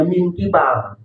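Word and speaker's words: مِن قِبَل: depan kubul kebalikan dubur tapi di sini yang cepat bacanya Min kibal kibal itu minibalil Hakim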